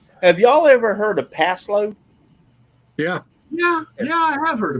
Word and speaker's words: Paslode: It's called pass load. Can you spell that? PASLODE. Yep, pass load.